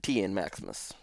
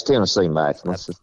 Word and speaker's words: TN Maximus: Is that how that you normally pronounce that, or is it TN Maximus? It's Tennessee Maximus.